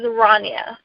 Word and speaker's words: Rania: you say her name her name is rania okay thank you ronya okay so can you